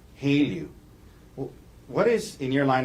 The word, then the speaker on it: HALEU: How do you say H-E-L-E-U? Haleu. Haleu.